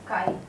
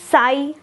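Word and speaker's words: χ: तो साई, जाई, काई, एक्चुअल जो इसका प्रोनाउंसिएशन है वो काई है। आप गूगल पे जाओगे, वहाँ पे जाके जब आप देखोगे तो एक्चुअल प्रोनाउंसिएशन इसका काई ही है।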